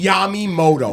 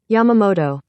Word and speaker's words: Yamamoto: or yamy Moto's booty stop saying yamy Moto y cannot have noidea find me a COR a correct pronunciation of this guy's name and play it y because it's not yumy it's not yumy that let's just get that same as this let's see Yamamoto Yamoto so guess what I'm